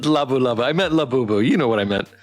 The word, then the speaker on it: Labubu: Every stream I mispronounce a word, man. I can't I just can't. It's labubu.